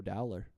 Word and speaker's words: Dowler: It's no Taco Dowler. Rhymes with growler.